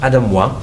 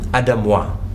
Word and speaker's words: Aidez Moi: name confused it's okay it's actually French it's pronounced Adam won but because we live in South Africa Adam won it's really interesting yeah